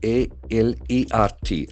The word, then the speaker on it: alert: A L E R T. That is a very interesting adjective. Come down. Alert. Alert. Letter A has got a sound. Then the middle R is silent.